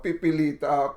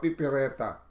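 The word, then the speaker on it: Mentha piperita: Ang tawag nga kanina, yung sinabi ko is Mentha pipilita. Tongue twister, pipireta. Piperita. Okay. Diba? So, if you're going to spell that out, it's Pipe as in echo, then Rita. So, Piperita.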